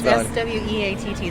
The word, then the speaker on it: Sweatt: It's SWEATT, so Sweat with 2 T's.